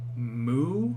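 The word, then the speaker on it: μῦ: l sound in lion mu just like the sound a cow makes yes it really is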